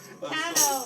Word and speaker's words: Cano: Cano, can you? Oh, actually, it's Cano, actually. Ah, Sorry. he's not a gentleman. I thought you were asking. Cano.